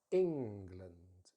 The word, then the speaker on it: England: So we stress the first syllable, ing, and then we put the schwa in the weak syllable.